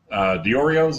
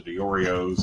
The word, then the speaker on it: Diorio's: We had him take us to Diorio's. Is that how you pronounce it? Mm-hmm. Yeah, we had him take us to Diorio's, and then he had